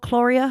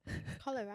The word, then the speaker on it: cholera: Chloria? How do you say it? Cholera.